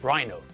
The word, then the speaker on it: rhino: Of course, the stupid thing with rhinoceros is the fact that everyone normally says rhino. And when we abbreviate the word, the stress moves from the second syllable to the first.